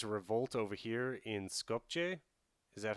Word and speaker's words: Skopje: how to pronounce that the j the j is like uh yeah that sound they uh yeah we have it on bulgarian but they have they're using the other alphabet and uh that's why it sounds strange in english skopje but it's scorpio